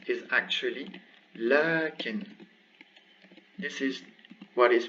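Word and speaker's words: لكن: So what is pronounced is actually lakin.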